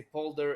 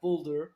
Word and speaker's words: Poolder: The first thing that I learned just now is that you have to say per and not boulder even though it's a double O. Yes. Is the Dutch way of pronouncing it, I guess.